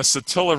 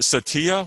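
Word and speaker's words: Satilla: is today in pronunciations i pronounced it satia when i first like was using this example and uh somebody in my class is like uh actually it's attila we go there every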